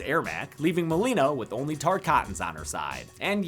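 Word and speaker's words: Tarkatan: on her side and yes it's pronounced tar cotton I got it wrong in the last video and honestly it feels like Baraka called me out personally it's t coton Earth reala to be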